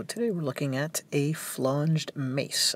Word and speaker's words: flanged: Hello, today we're looking at a flanged mace. I'm going to pronounce it that way. I've heard it a couple different ways. I'll just go flan, like the dessert.